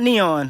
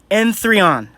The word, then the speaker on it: N3on: protecting your client Enon it's not neon let's pronounce it how it's pronounced Enon let's see how you